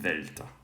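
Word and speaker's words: δέλτα: would be right um whereas in classical times it was d like dark um but anyway so i'll go with delta the th style so we have um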